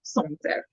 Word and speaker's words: Sancerre: By a glass of Sancerre. It's not Sancerre, it's Sancerre. This is a French wine.